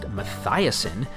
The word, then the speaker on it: Matheson: Matheson, properly pronounced Mathiasen, invested in rebuilding the sewer systems.